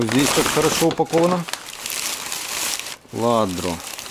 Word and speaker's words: Lladró: Льядро. О, как красиво. Цена составляет 40 долларов. Испанская компания Lladró произносится как « Я-дро».